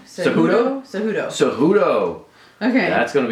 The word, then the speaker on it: Cejudo: who's he fighting Sergio Pettis is fighting who cudoo cejudo cejudo okay that's going to be a good fight pronounce things like such a white girl don't